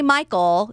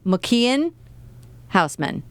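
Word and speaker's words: Michiel Huisman: name is mcken Housman you can't say Michael even it's he says mcken housan cuz he's Dutch so that's why it was important to say that he's Dutch because I was about to say his name very weirdly I mean not weirdly but like if you look how it spelled it just looks like how is that night just Michael right that's not mcken is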